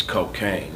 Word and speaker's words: Kokane: become a dick thing this is cocaine not spelled with the CLC a I&E but the K okay ane and when you hear